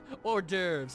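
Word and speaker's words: hors d'oeuvres: mine I mean the evening or de over or derves is how it's pronounced or as I always like to call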